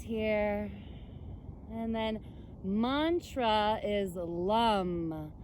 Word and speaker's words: Lam: and then mantra is lum it's spelled l-a-m but it's pronounced like l-u-m it's a seed sound